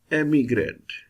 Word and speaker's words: emigrant: And this whole becomes emigrant. If you look at this little sign looks like apostrophe, which is not apostrophe. This sign shows which syllable will be stressed.